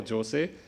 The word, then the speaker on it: Jose: Benjamin, George, Shive, and Jose. I was asking my colleague, how do I pronounce? Is it Jose or Jose? And she said it's Jose.